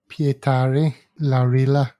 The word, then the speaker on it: Pietari Laurila: Pietari Laurila, I think. Yeah. Is the correct pronunciation.